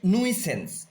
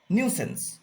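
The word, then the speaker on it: nuisance: এটাও একটু বিতর্কিত উচ্চারণ। আমরা বলতে পারি নুইসেন্স, নুইসেন্স, কিন্তু এটার প্রোনাউন্সিয়েশন হয় নিউসেন্স, প্রোনাউন্সিয়েশন হয় নিউসেন্স, কিন্তু আমরা চোখে দেখে যদি পড়ি তাহলে হবে নুইসেন্স।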